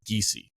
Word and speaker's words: Giese: So it's Giese. Oh, okay. Giese. Okay, so it's Tate Giese. That's how I was told to say it.